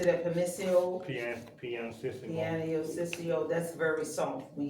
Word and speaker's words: pianissimo: Is that how you pronounce it? Petissimo? Yeah, it should be partissimo. Right there? Oh, no, I'm sorry, not Piano system mode. but yeah, pianissimo.